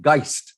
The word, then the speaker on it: Geist: good very good so the album is called geist is that correct pronouncing it yeah and it's a german word